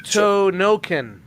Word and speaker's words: Hokuto no Ken: it's pronounced Yeah, fix it, Hokuto Noken.